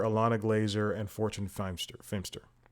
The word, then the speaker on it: Feimster: had Paul Shear Alana Glazer and Fortune Feer fster it's spelled feimster those are the people I more